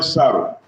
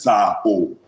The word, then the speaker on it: Saro: Professor Daniel Saro. You know, if there are two people here now, they will say, you're not pronouncing the name correctly. it is Sir O.